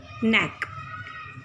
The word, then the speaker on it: knack: Scruff is द बैक part of द नेक। Then नेक, KNACK, इस word में के silent है, आप इसको बोलिएगा नेक। एबिलिटी, स्किल, गुण, तो हम